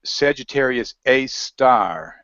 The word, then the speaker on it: Sagittarius A*: go and search for Sagittarius AAR and it's spelled a asterisk is called AAR and here's just another